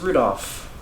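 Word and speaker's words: 留弗夫: tell you that that mess of characters is pronounced rudolph you must hate grandfather grandfather for giving him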